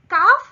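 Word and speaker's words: calf: और काफ काफ में L silent हो जाता है। और आ के बाद सीधा एफ की आवाज आती है।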